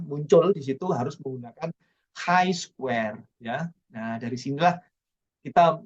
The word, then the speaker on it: chi square: coba bangun ya menggunakan Chi square bacanya high Square jadi Square ya huruf-huruf abjad Yunani ya trik letter ya bacanya